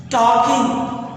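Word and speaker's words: talking: टॉकिंग, जैसे वॉकिंग पढ़ते हैं, लिखते हैं वॉकिंग, एल साइलेंट है।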